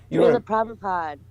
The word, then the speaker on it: Srila Prabhupada: Srila Prabhupada. Thank you. I couldn't pronounce that one.